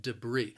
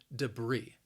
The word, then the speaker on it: debris: that that's larger debris the word has two syllables and the stress is on that second syllable debris now that first syllable also it has that schwa sound that and that second syllable has a long e sound even though the spelling